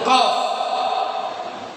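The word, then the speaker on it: ق: kalimat qulu ada huruf qaf, ya. Kalimat qulu ada huruf qaf. Cara pengucapan huruf qaf adanya di mana? Aqsal lisan fauqu. Atau cara pengucapan huruf qaf ini pangkal lidah bagian bawah.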